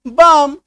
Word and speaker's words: balm: देखिए जैसे PALM तो एम से पहले एल है, BALM एम से पहले एल है, तो इसका हम लोग क्या करेंगे? एल को काट दीजिए। अब पढ़िए PAM पाम, सही उच्चारण निकलेगा। BAM बाम, सही उच्चारण निकलेगा।